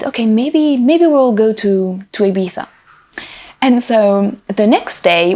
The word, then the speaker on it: Ibiza: to an island in the Mediterranean that's called Ibiza, or Ibiza, as the British say it.